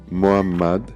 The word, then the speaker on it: Muhammad: Le nom Muhammad se prononce « Muhammad », mais en ponctuant la lettre H comme cela, nous aurons distingué la lettre H de la lettre H.